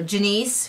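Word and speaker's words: Jennice: Jenice Denise Janice Janice I think it's pronounced like Denise but with a G or like sorry with a J but G sound so Janice who's a deck hand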